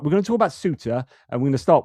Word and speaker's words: Ceuta: Spanish call it Ceuta if they are from sort of most of Spain. But then Andalusia, I said pronounces a th, but they don't. It's the other way around, and they would pronounce it Ceuta. So I just got the th part wrong with the Spanish when I was talking about it before. Anyway, I just want to